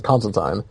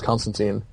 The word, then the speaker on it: Constantine: without one more so if he's saying is constant time he's obviously getting it directly from the source and if Alan Moore says constant time even if everybody else has Constantine allamore created the character and the character's name